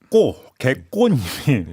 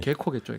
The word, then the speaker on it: 개코: 지금 뭐는 개꼬님이 개코겠죠, 개코. K가 두 개니까 꼬라고 읽거든요.